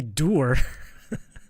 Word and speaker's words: door: We don't say door. We don't say door. We say door.